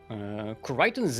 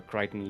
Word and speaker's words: Kureiton: Kureiton's name is derived from the suburb of Melbourne, where Kureiton lives. Which is called Clayton, but in Japanese it is pronounced Kureiton.